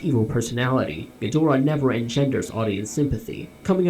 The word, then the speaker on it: Ghidorah: of his debut movie his name was standardized as gadora thereafter which has been pronounced several different ways in the dubs recorded since K Gora Gora kingra King gadora kadora King Gora King gadora yeah a lot of people